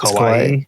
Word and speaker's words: kawaii: Joe, you said kawaii and It's kawaii. And kawaii, yeah. Chimpeg, you said kawaii and Kawaii. kawi. Kawaii. Kawi? Kawaii. And Mace, after Google searches, I found that you said kawaii and kawaii.